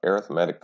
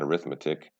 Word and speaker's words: arithmetic: going to talk about arithmetic sequences and yes that is how you say the word when you are talking about sequences not arithmetic arithmetic first let's talk about